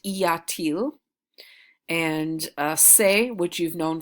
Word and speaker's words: y a-t-il: The inverted form of Ilya is pronounced Iatil, and se, which you've known for a while, that inversion becomes s, is how it's pronounced.